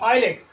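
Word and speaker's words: islet: हम आईलेट कहते हैं, तो यहां पर जो है एस क्या है, साइलेंट है, इसका प्रोनाउंसेशन होगा आईलेट, ठीक है, आईलेट, आईलेट मतलब टापू या छोटा सा द्वीप।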